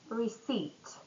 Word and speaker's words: receipt: Next silent letters, it's going to be silent P and silent K. Silent P, it's receipt or prompt.